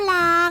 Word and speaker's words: กลาง: อยู่ ด้าน หน้า เช่น คำ ว่า กลาง นี่ ลอ ลิง อยู่ หลัง ก ไก่ และ ออก เสียง พร้อม กัน อ่าน ว่า กลาง มี ส่วน อักษร นำ